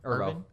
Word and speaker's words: Erivo: Holy crap, of all the people in this movie, it was both Cynthia, how do you pronounce her last name? Erivo. Erivo? Yeah. Cynthia Erivo and Louis Pullman definitely surprised me the most because I haven't seen them in anything else.